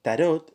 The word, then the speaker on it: tarot: podemos afirmar es que tarot es una palabra francesa y que la última letra de no se pronuncia aquellos que insisten en